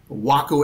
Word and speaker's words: Waco: the Smithsonian would say, he can remember how to pronounce Waco because he knows that Waco is a city in Texas, Waco is a state of mind, and Waco is an aircraft.